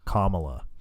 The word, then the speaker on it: Kamala: Kamala. Correct way to say our vice president's name is Kamala. like Like the punctuation.